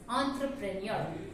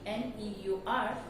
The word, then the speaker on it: entrepreneur: But again, as I told, EN with multiple vowels becomes on. So the correct pronunciation of this word is entrepreneur. I repeat, the correct pronunciation of this word, ENTREPRENEUR, is entrepreneur.